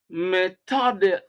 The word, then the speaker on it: methodical: Methodical, methodical, stress on the second syllable.